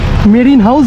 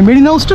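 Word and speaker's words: Marina House: চলে এলাম একদম এই মেরিন হাউস বিল্ডিং এর সামনে মেরিন হাউসটা না আমি ভুল উচ্চারণ করছিলাম মেরিনা হাউস মেরিন হাউস বলছিলাম that is এ মেরিন হাউস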